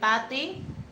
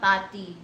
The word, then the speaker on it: Tate: Sometimes, but people don't really get it, that I just type it state and then drop the letter s.